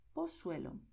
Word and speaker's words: Pozuelo: Y lo que pronunciamos será, por un lado, el sonido de S, que es el sonido que escucharás en cualquier país de América Latina donde se hable el español.